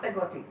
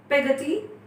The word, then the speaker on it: Peggotty: And just be careful with the pronunciation of words. It's Peggotty, not Peggotty. Alright? Then, Peggotty, Miss Betsy called to our faithful servant.